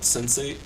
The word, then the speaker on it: Sense8: Right now I'm knocking out a show on Netflix called Sense8. It's really good. What was it called? Sense8. Sense8. So Sense8. SENSATE. Sense8. But it's spelled it's spelled sense like senses and the number 8.